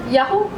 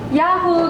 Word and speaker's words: Yahu: madam yaho Bakit may exclamation Oo paano ba pronunciation yan pala namang Yahoo Yahoo ganon the thought kasi is sa sobrang sarap